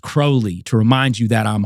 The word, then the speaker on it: Crowley: So we know holy is going to rhyme with Crowley.